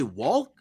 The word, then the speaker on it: walk: But nobody pronounces the L. I even went to work. I even went to work and I was like, "Yo, do you ever say walk?